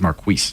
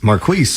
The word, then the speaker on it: Marquis: He's not Maris, he's Marquis. Marquis.